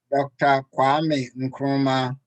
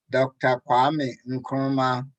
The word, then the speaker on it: Kwame Nkrumah: please dad help us out how would we pronounce his name dr kwame nkrumah dr kwame nkrumah dr kwame nkruman fantastic on this page this